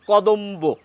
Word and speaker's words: কদম্ব: এসে যায় আমরা বলি কদম্ব ব এর উচ্চারণ এসে যায় ক দম্ব এখানে ব এর উচ্চারণ রক্ষিত হয় তাহলে আমাদের উচ্চারণের কি